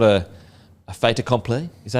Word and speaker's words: fait accompli: First of all, obviously the fact that it's not a fait accompli. Is that how you say it? A fait accompli?